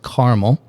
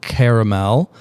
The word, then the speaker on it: caramel: know his product and it's pronounced caramel not caramel uh from chocolate chocolate